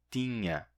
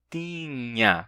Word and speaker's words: tinha: Curiosamente, nem todos os falantes de português pronunciam de fato tinha, com nha. Muitos dizem tinha, simplesmente T, I nasal, A, tinha, que é a pronúncia antiga. No caso, essa é a minha pronúncia. Eu digo tinha, eu tinha, e não eu tinha.